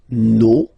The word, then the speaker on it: nos: Okay, and then for the plural, nos, vos, and then leur. Okay, so remember, even if you've got this final S, you don't pronounce it, as it was the case already for this word, no, you don't pronounce the final S, vos, you don't pronounce it, leur.